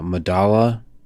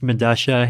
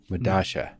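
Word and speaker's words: Medellín: this Madala, I uh, believe it's pronounced Medasha. It's a South American subway station. I forget where. but spelled with two L's. Yeah, because that's how Spanish works, right? Like the two L's have.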